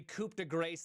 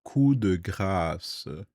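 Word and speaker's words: coup de grâce: But then the coupe the grace landed. We are introduced. I'm so sorry, but it is pronounced the kud in French. You don't uh pronunciate the P not industry standard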